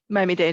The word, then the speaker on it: Miami-Dade: I don't know how to say it, DADE College, Dade? Miami-Dade, yeah.